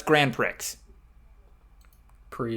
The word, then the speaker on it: Grand Prix: gp i assume that's grand prix grand prix grand prix the x is silent okay you can